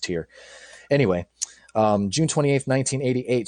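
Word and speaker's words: Týr: ahead to the 28th i think that's actually pronounced tier i'm sorry tyr i think this pronounced tier anyway um june 28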